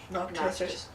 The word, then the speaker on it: Noctis: Noctis.